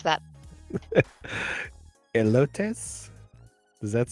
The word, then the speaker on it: elotes: corn, and I will let one of you pronounce that. Elotes?